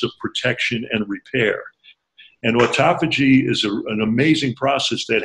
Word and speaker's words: autophagy: There's something that happens in a fast called autophagy, A-U-T-O-P-H-A-G-Y, which you can pronounce it autophagy, it just means self-eating, where